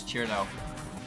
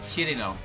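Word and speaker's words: Cirno: I pronounced Cherno as Cherno, which is like 95% of the English-speaking base's way of pronouncing that name. You know how you actually pronounce it? What? Chirino. It's 3 syllables.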